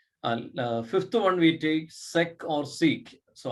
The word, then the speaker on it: sec: Fifth one we take sec or sec. So I prefer to read it as sec, sec A, because it is the from the full form secant of angle A.